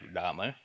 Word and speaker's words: Lrama: so difficult right uh so it's pronounced like Lama uh yes it is